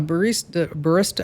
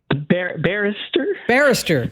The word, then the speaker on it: barrister: He hires a barista. How do you say that? A barista, like someone who makes coffee? No, it's how you say lawyer in Great Britain. I forget. Barrister, yes. Not a barista, barrister.